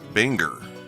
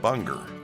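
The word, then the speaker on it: Buenger: you probably already knew I was saying his name wrong wter L Binger is his name I was kept saying Bunger over and over and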